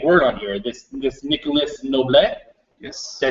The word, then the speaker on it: Noblet: So the guy then is the big word on here, this Nicolas Noblet? Yes. Did I say that right? We don't pronounce the S when Nicolas Noble.